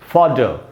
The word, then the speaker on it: fodder: तो मैं आपको ये बता दूं कि ब्रिटिश इंग्लिश में जब भी जो एंड में जो R होता है एक वावल के बाद, उसका उच्चारण नहीं होता। तो उस हिसाब से इसका प्रोनाउंसिएशन होगा फॉडर।